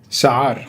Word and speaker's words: Chaar: His name is Amin Chaar, or he's going to pronounce the Arabic way. Chaar.